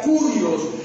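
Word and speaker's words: κύριος: griego y la palabra señor en griego se pronuncia curios Y esa palabra curios en griego representa una Suprema autoridad una divinidad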